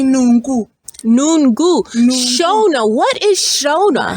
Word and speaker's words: nungu: How do we Porcupine in Shona we say Nungu.